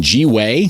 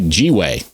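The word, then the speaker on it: gwei: is 41 g way thank you box mining for pronouncing it that way i can't seem to say it any other way after i heard michael goo from box mining call it g-way now i'm like i'm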